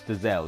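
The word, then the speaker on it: Dozzell: And I don't know why, because we've seen Andre Dozzle this season. Dazelle. I keep saying it wrong. It's Dazelle, right?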